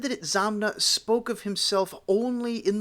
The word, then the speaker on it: Itzamna: This does not explain the last syllable na, which is always strongly accented. It is said that Itzamna spoke of himself only